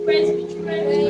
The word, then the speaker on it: presbytery: Let's pronounce together now. It's not correct. That's not the sound. Yes, it's presbytery.